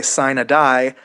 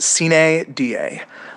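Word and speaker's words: sine die: session in Annapolis, and they say sign a die, that they're wrong. That's not how it's pronounced. It's pronounced CA DA. Uh, literally ca means without, da means day. Um, it's it's pretty similar actually to um to to carp. Get it right. It it's ca da, not sign a die.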